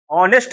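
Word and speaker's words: honest: आया है और फिर एच साइलेंट निकला है निकल रहा है ना हिंदी बोलो बेटा ऑनेस्ट ऑनेस्ट तो नहीं बोलोगे ऑनेस्ट बोलोगे तो सीधी सी बात जो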